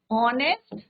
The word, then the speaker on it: honest: पे प्रोनाउंसिएशन क्या है, ये ऑनेस्ट, एच क्या है आपका, कॉन्सोनेंट है, पर प्रोनाउंसिएशन किसका है आपका, वॉबल साउंड आ रहा है, दैट इज वाई यहाँ पे क्या लिखेंगे, एन आर।